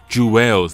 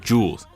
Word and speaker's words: Juelz: It's Juelz, not Jules. So let me say his name right.